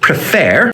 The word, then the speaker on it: prefer: end with an er in the word prefer the er sounds like the word air that tells us that the final syllable is strongest so when we want